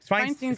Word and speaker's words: Feinstein: Feinstein's right. Feinstein Yeah, yeah. is the Do you want correct the proper pronunciation?